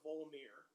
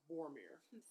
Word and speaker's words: Vormir: what happened when he had to go to Vormir. Huh? Vormir. That's the second time I've mispronounced that in a podcast. Sorry, guys. Vormir.